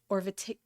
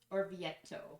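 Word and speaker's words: Orvieto: Fetil, a small town about an hour and a half's drive from Orvet. Or Vietto.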